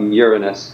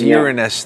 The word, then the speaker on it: Uranus: Most people don't, but we scientists are anally retentive about the pronunciation of Uranus.